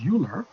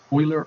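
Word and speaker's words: Euler: log using e or Oiler number as the base that e is called Oilers number now some people ounc it as uler but that's not right because oer was a um uh German mathematician in the uh around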